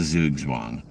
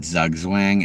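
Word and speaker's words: Zugzwang: Um, and that's a zoo zwang. Uh, it's a chess term. I've wanted to make a project called that for a while, but everyone would pronounce it Zugwang, and I don't feel like dealing with that.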